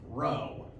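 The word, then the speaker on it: rho: for momentum is a initially lowercase Greek letter row there not a fraternity or sorority on campus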